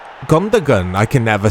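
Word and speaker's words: Gündoğan: Oh, it's Gundogan. I can never say his name. The G is silent, isn't it? No, it's not.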